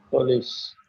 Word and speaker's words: police: This is weak a. Okay, and there is a long e sound, and then it makes police.